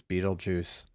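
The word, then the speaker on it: Betelgeuse: I found out after the stream was over that the name of the place is Beetlejuice, and it's spelled like the star.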